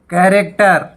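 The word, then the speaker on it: character: आगे कैरेक्टर, यहाँ पे एच साइलेंट है।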